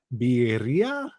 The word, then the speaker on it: birria: It's birria. No, they're spelling it wrong. It's spelled with an I. Birria?